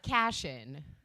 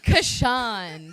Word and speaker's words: Kashan: your surname correctly uh cassian i'm not that fancy it was like kashan sounds very i made